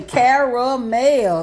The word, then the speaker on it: caramel: this is South honey we say caramel three syllables and a couple of